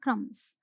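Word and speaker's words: crumbs: क्रम्स। क्या बोलते हैं? क्रम्स। यहाँ पर बी साइलेंट होता है। ठीक है, ये साइलेंट रहेगा। जब बोलेंगे तो क्रम्स नहीं बोलेंगे, हम बोलेंगे क्रम्स। Okay, so there are क्रम्स all over the counter.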